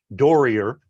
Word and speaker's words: Doerrier: last name it's German dorier is the proper pronunciation and what do I